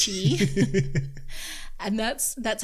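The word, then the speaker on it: chi: ER and CH I some people say chai but it's cheap and that's that's how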